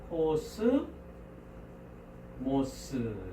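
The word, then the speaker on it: κόσμος: 코어 쓰 모어 쓰 3월 이제 합심 1 호스 모스 이렇게 발음을 합니다 그래서 어 몸에 개수는 문자 의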